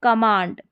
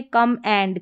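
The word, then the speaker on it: command: तो आपको ऐसे भी ध्यान रखना है, कमांड, न कि कम एंड, कम एंड, ऐसे कोई प्रोनाउंसिएशन नहीं है, उच्चारण नहीं है।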